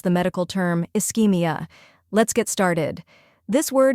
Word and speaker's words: ischemia: say it again slowly is ke now faster eskia eskia great job eskia refers to a reduced